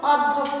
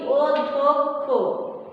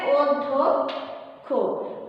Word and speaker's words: অধ্যক্ষ: আমরা এটা উচ্চারণ যখন করি তখন আমরা কিন্তু অধ্যক্ষ বলি না, আমরা কি বলি অধ্যক্ষ। সঠিক উচ্চারণ হচ্ছে অধ্যক্ষ। কেন হলো এখানে ওই যে ব্যঞ্জন বর্ণের দ্বিত্ব উচ্চারণ কেন হলো? কারণ শব্দের মাঝখানে কি আছে জফলা আছে, সেজন্য এই ব্যঞ্জন বর্ণটা এই ধ ব্যঞ্জন বর্ণটা দ্বিত্ব উচ্চারিত হবে।